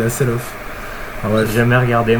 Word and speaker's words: Hasselhoff: Pour les fans de David Hasselhoff, d'ailleurs, je crois que ça se dit pas Hasselhoff. Ça s'écrit Hasselhoff, mais c'est Hasselhoff.